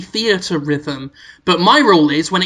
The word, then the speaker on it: Theatrhythm: how you say rhythms I was calling it Fiat rhythm yeah yeah but then dial I think to the story saying oh by the way we've all been pronouncing it wrong I think it might be theater rhythm but my role is